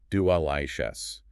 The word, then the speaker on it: delicious: 3. Delicious. Stress is on the second syllable. Delicious. The first syllable uses the schwa.